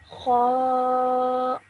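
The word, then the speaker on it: خ: This is pronounced as kha.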